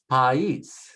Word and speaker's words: país: País, país, referring to a country.